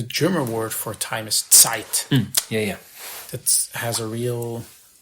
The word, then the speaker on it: Zeit: I mean, like the German word for time is Zeit. Yeah. That has a real ring to it. Yeah, and we could spell it phonetically for the English folks, so TS, I guess.